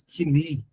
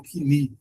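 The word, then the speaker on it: κοινή: A pronúncia em grego seria mais ou menos kini, né? O grego quini ou coini na sua forma portuguesada.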